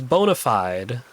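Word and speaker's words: bona fide: Bday rhymes with fried. Fried. I Well, cuz there's there's bonafide, right?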